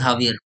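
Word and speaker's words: Xavier: शायद आपको लगेगा मैं जेवियर को हावियर क्यों कह रहा हूँ। एक्चुअल में पोर्चुगीज और स्पेनिश दोनों में प्रोनाउंसिएशन काफी हद तक सिमिलर होता है। तो इन लैंग्वेजेस में जब जे लिखा हो तो उसे एच प्रोनाउंस करते हैं।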